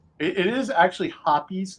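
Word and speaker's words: Hoppe's: is actually hoppies not hops I just said hops my entire life I always called it hops but but it is actually pronounced hoppies if you talk to anybody that works for that company um yeah I'll remember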